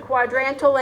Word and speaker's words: quadrantal: It sounds weird, quadrantal angle. Think about the fact that it's got quadrant in it, so keep that in mind when you're thinking about this. Quadrantal is how that's pronounced.